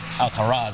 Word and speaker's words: Alcaraz: Alcaraz. It's like the prison, but without the T.